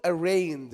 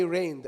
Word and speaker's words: arraigned: This word is called arraigned. As you can see here, the G is silent. Say it again please everyone. Arranged. Arigned. Arranged. No, not not I arraigned.